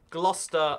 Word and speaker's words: Gloucester: Lester or Worcester are my favorite yeah Lester Gloucester and there's some really bad like English names I love how Americans say Nottingham - they're like Nottingham like so